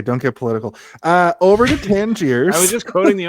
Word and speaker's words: Tangier: It's Tangier. Why do they always pronounce it Tangiers? What's the deal? I think Americans pronounce it Tangiers. Could I think be. there is an S on the end, right? Like, or no? No, it's Tangier.